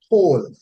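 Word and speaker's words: קול: that root word is transliterated to English as Qowl, and it is pronounced whole, meaning a sound, right?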